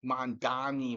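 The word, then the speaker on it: Mamdani: And I don't know if Mom Mom Donny Mom Donny rhymes with commie.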